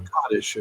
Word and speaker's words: Kadesh: And there's a famous battle called Kadesh or Kottish according to how you say it that between Egypt and the Hittites.